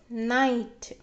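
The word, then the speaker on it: knight: words okay k n when they are present together at the beginning of the word K becomes silent and we get only the sound of n n i night to Nite night tonight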